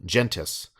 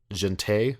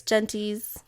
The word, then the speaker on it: Gentes: Gente? No, it's not French. Gentes. I always assume it's Gentes because It sounds way too close to testes, I was though. going to say it rhymes with testes.